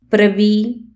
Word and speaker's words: prvý: R et L peuvent jouer le rôle de voyelles. Ça donne des mots merveilleux tels que plný, plein, prvý, premier, prší, il pleut, zmrzlina, glace, vlk, loup,